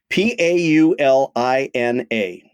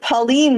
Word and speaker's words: Paulina: South Street in Chicago p a u l i n a so my instinct would be to pronounce it Pauline but since you're asking me maybe it's Paulina you are very good Chicago is embracing you